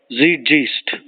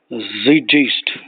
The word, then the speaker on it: Zeitgeist: Zeitgeist or Zeitgeist. Zeitgeist is actually a German word. Zeitgeist.